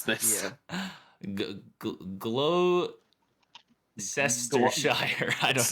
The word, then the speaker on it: Gloucestershire: They're making him a sergeant, but out in the country in Sanford, Gloucestershire. And What an he's- ugly language they We speak. can pronounce this. Yeah. Gloucestershire. I don't. It's like Worcestershire.